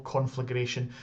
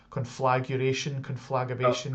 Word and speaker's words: Conflagration: I loved running, Eternal Conflagration. It's also the one that everyone loves to get saying it wrong as well. So many times I hear it conflagration. Conflagration. Yes. Conflagration. Yes. Roll those R's.